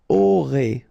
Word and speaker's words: aurez: Vous aurez. Alright, O, and then EZ at the end will give you this E sound.